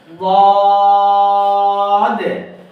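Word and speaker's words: ضاد: আমি বাম সাইডে লাগিয়ে বলতেছি বদ। আচ্ছা, দদ হলে এক হলো মোটা করতে হবে, আরেকটা হলো চার আলিফ টান দিতে হবে, আরেকটা হলো শেষে একটা ধাক্কা দিতে হবে। কেন?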